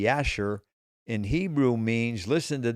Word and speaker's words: Jasher: Jasher, the word Jasher in Hebrew is pronounced, they don't pronounce the J, it would be Yasher.